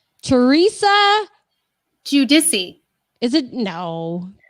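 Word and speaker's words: Giudice: because i always say it right wrong teresa judissi is it no guadichi no at least randy calls andy cohen says you okay so theresa judisi i saw this the other day on instagram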